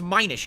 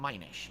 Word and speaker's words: Minish: to learn things hello it's Minish not Minish Minish isn't diminished okay so Minish Cap